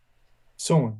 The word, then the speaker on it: Solon: Is that how you pronounce it? Solon? Solon, yeah.